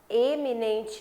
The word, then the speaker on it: eminente: A escrita é diferente, eminente e iminente e a pronúncia diferente. Eminente e iminente. É claro que um você fala e e você fala i.